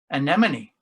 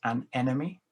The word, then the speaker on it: anemone: night and he mentions anemone which is easily mispronounced as an enemy is chloe clifford we